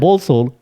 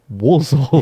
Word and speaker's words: Walsall: no, this is Walsall, Yeah. not Poland. Yeah. Not Balsall, Walsall.